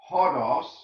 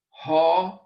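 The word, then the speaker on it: ὁδός: have the word hodos, notice hard breathing omicron, delta, omicron, sigma, ha-dos, way. I am the way, the truth, and the life. Ha-dos, this is hard breathing. And this is transliterated. If we put this into English letters, then we must write it this way. H-O-D-O-S, hodos, because this initial sound has a hard breathing.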